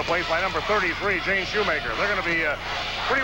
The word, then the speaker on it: Schumacher: I may have pronounced it Schumacher a few times, and hope you'll forgive me because it spells Schumacher, but the girls pronounce it Shoemaker.